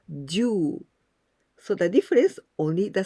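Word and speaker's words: 十: it means jew ten the meaning is 10 and we pronounce jew so the difference only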